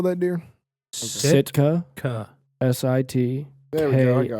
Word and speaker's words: Sitka: I need to go to the Eastern Shore and get some of that Sitka deer.